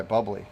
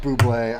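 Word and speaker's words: Bubly: brought to you by bubbly i get paid for that it is pronounced buble i know thank you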